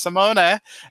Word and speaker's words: Simone: So there's Simone.